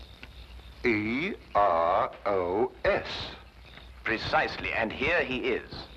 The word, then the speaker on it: Eros: influence of cockney's stagehands she added an H where there shouldn't have been one what then spell it as she spelled it but without the H e r o s precisely and here he